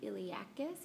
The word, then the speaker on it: iliacus: Number two on the inside of the ilium is the iliacus. If you pronounce it that way, you will spell it correctly.